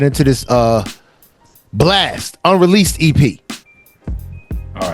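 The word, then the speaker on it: Blxst: Say his name again. Blex. Blast. I know it's Blast, but it's Flex. He pronounced the X.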